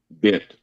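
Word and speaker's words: bint: It's pronounced bent. B-I-N-T.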